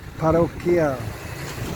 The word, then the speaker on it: Parroquial: Right up here is a Colegio Parroquial. I always pronounce it wrong. Parroquial.